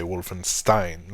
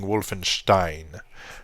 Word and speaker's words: Wolfenstein: I think it's it's you say Wolfenstein like downward thrust just said but we were saying Wolfenstein this is how we we pronounced it and so I